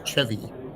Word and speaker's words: Chevy: It's spelled Chevy, but it's pronounced Chvy.